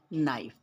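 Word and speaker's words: knife: और भी ऐसे शब्द हैं जैसे नाइफ उसका भी स्पेलिंग होता है के एन आई एफ ई इसमें भी के साइलेंट होता है और उच्चारण क्या होता है नाइफ तो बच्चों मिलते हैं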